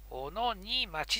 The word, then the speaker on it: 小野新町: 雪深い時の小野荷町って読むんですね。